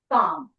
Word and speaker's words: calm: Calm. C A L M. But this is silent. So we say calm.